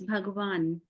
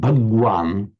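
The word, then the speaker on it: भगवान: modern Hindi mander uh it's pronounced as bhagavan bhavan okay bhavan bhagavan bhagavan would Do you ever pronounce it bhagwan? I think I' I've heard people say that speak like that bhagwan especially when you uh have dialects like Punjabi because there uh Hindi is used in a very different manner. Okay. Right. The letter G becomes half G.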